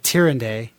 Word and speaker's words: Tyrande: Malfurion and Illidan were both in love with Tyrande. Tyrande?